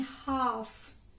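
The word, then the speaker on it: half: Than हाफ. हाफ जब हम बोलते हैं तो L की साउंड नहीं आती, राइट, हाफ.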